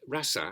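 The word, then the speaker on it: रस: and ease so uh Ras rasa is two short syllables rasa but when the vowel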